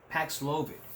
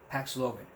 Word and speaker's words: Paxlovid: You may not have heard of it, but it's called Paxlovid. It does rhyme with COVID, yes.